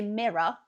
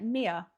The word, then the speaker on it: mirror: So, we say mirror, but I've heard quite a few Americans pronounce it like mia. Like mia. I I always find it absolutely bizarre. Like it's almost like the R isn't actually pronounced or it's very quick.